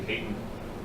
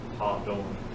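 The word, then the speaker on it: Hadon: So a lot of people say Hayden. Phil pronounced it Ha-Don.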